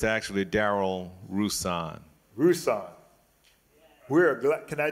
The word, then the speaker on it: Rouson: say if we were in North Carolina, you'd pronounce that right. It's Rouson. But my mother, who was Creole, met my father at Xavier, and she convinced him to change the pronunciation to Rouson.